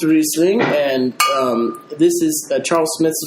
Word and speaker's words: Riesling: It's pronounced Riesling, and this is Charles Smith's version of it.